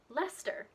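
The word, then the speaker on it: Leicester: that end with c-e-s-t-e what you think might be pronounced as chester but is actually stir so you've got places like lester glauster bister lemster and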